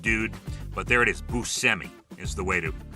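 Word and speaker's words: Buscemi: And he stopped pronouncing it Busemi a long time ago and now it's Busi and that's that's just the way it is.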